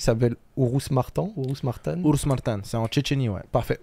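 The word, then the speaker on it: Urus-Martan: une ville qui s'appelle oururous Maran ourous Martin oururus Martin c'est en checheni ouais parfait Urus Maran avant de rejoindre justement agueno en France quand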